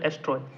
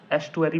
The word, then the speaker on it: estuary: अब देखो डैम है तो बैरियर ही है ना, इट इज a barrier constructed across a tidal एस्ट्रॉय, sorry ये स्पेलिंग ध्यान से देखना, ESTUARY, एस्टुअरी भी बोलते हैं, ठीक है।